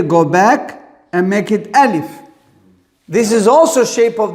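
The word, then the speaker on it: ألف: We say the name is alif. Not alif. Alif.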